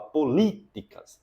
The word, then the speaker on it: políticas: é mais forte política Qual é a sílaba tônica forte é o li né você não fala políticas você não fala políticas nem políticas você fala políticas é o li que forte pública a mesma coisa